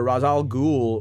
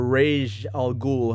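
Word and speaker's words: Ra's al Ghul: him to his grandfather razal ghul or raj al-ghul however you want to pronounce it i think that's the correct pronunciation um raise as batman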